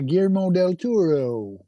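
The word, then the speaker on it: Guillermo del Toro: Uh we're your hosts Dave Al Opie and Donnie and today we are talking about Frankenstein by GMO Del Turo.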